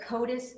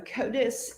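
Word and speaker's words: CODIS: Can you tell the jury what COTUS is? C O D I S. Yes. So, KOTUS is an acronym that stands for the combined DNA indexing system.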